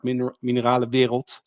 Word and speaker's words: Mineralenwereld: And yeah, that's then all things happened, and we became friends, and also started Mineralenwereld. This is how Yeah, that's how you pronounce it.